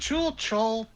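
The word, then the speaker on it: Chuul: It rhymes with tool, which they definitely are. I assumed with the two U's it did the chul sound rather than the chul.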